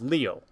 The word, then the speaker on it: Leo: It's written with the kanji for lion to be sure, but it's pronounced Leo.